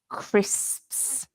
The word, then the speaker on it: crisps: crisps which is um a very difficult word to pronounce isn't it crisps because it's got lots of consonants in it so crit like um cricet so the crit at the beginning is like in cricket but the end of